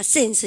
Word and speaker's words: since: 신스 그러니까 그러면 안 되고 여러분들 이거 발음하실 때 S 발음은 입을 옆으로 쫙 벌리시고 스 발음하셔야 됩니다. 아시죠? 그래서 신스입니까? 신스입니까? sense 그죠? 그러면 작년이라 해보세요. since 시작.